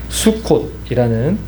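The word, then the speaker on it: סוכות: 수콧이라는 또 그런 원어의 발음을 가지고 있는데이 초막절을 지키는 방법은 산에서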